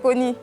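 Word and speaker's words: Kony: C'est Connie. C'est Connie? Oui. Connie. Emmanuel. Connie Emmanuel. Comme Connie Touré. Bon, ouais, mais ça s'écrit pas de la même manière. Ça s'écrit K-O... N-Y.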